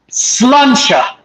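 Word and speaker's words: sláinte: it's pretty that's how it's spelled how it's pronounced sluncha I like that that sounds like an insult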